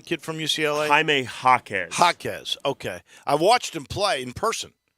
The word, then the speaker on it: Jaquez: The guys that I think, do you think it's Jaquez, right? Is that how they pronounce the kid from UCLA? Jaime Jaquez. Jaquez, okay.